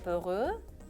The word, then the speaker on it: peureux: Il est peureux. Je mets un X. لاحظتوا انه عم بحط X au masculin. Je mets le X, mais je ne le prononce pas.